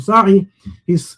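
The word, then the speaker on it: Saeh: Ahmad Bassam Sa'i. His surname is spelled S-A-E-H in English, Sa'ih.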